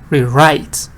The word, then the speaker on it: rewrite: to do it again, you put the stress on re, actually. Sometimes, it depends. Write, of course, this book says writer, rewrite.